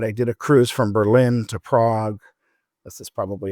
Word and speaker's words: Berlin: I want to at least spend a few days in Berlin." So, or Berlin, as Berliners say, with the emphasis on the first syllable.